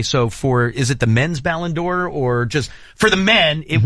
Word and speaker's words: Ballon d'Or: Hey, also, Tyler, help me with, I know I'm not going to pronounce it right. It's going to sound horrible. Ballon d'Or?